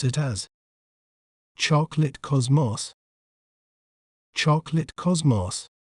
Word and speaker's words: chocolate cosmos: In British accent, we may pronounce it as chocolate cosmos, chocolate cosmos, choc, lit, cos, moss, chocolate cosmos. In American accent, we may pronounce it as chocolate cosmos, chocolate cosmos, char, clit, cos, mos, chocolate cosmos.